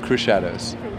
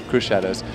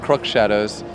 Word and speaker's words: Crüxshadows: so maybe you can we pronounce it crew shadows crew shadows and I know most people pronounce it croc shadows it's okay it's no problem for us with an accent yeah languages well it's sort of a silent X you know can you